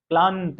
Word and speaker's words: क्लांत: अब ये जो दो अर्ध व्यंजन है न, यहाँ पे जो आधा न है क्लांत, उच्चारण करिए क्लांत। तो इसमें क्या हो रहा है, जो ये आधा न है, न के पहले वाले जो ध्वनि है ल के ऊपर बल दिया जा रहा है, बलाघात किया जा रहा है।